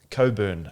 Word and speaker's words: Cockburn: There's the Shire of Cobburn apparently it's called, but it's spelled Cockburn.